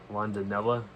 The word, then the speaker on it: Rondinella: Directed by Thomas Rondinella.